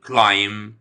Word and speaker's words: climb: ونخلي بالنا إن الحرف البي في كلمة climb طبعا silent. اوكي، لما بيجي حرفين الام بي في نهاية الكلام، حرف البي لا ينطق، بيكون silent، فبقول climb the mountain.